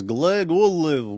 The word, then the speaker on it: Glagolev: You're supposed to say it like this. Glagolev.